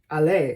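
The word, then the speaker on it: allées: But the pronunciation is just the same. It's allé.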